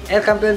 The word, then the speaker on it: El Campeon: And then El Campeon, ay aliwa laman, El Campeon Pigeon Feeds, yun ang tamang pronunciation mga kalapati.